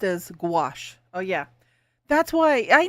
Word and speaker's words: gouache: Little gray, pronounced as gouache. Oh yeah, that's why I know that's for some reason my head is just not working with me today. I knew it was gouache.